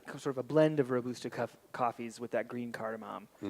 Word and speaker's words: Robusta: I've learned today that I've been saying it wrong for years now. Robusta coffees. Robusta. It's a long U.